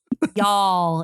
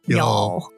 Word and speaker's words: Y'all: Y'all. It's like one syllable. Y'all.